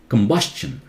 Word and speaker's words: combustion: one now listen carefully tion should be shunned right we know that shun but st Iowan is not shun Chung Chung combustion all these rules are